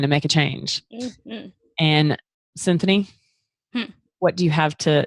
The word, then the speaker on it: Cinthanie: You can find Cinthanie. What's your IG and your Facebook? My Instagram is Cinthanie. My Facebook. Spell that for everyone, because everyone thinks that we're saying symphony.